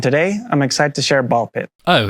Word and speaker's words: Ball x Pit: Hi, today I'm excited to share Ball Pit. Oh, it's just pronounced Ball Pit.